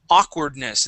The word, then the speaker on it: awkwardness: aoke good nice job let's use that same a sound when we say awkwardness instead of ow awkwardness awkwardness awkwardness very good uh let's